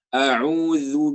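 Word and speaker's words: أعوذ: Yang pertama itu kan pengucapannya a'udzu billahi, a'udzu. Nah itu ya. Itu kadang-kadang kebanyakan orang memakai huruf zai. Sedangkan yang benar itu adalah huruf za. Ya. Jadi di lidahnya sedikit digigit gitu ya.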